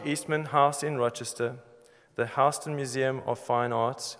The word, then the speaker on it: Houston: House in Rochester, the Houston Museum of Fine Arts, or I should say Houston. Some Americans say Houston, Houston Street in New York, and Centre Canadien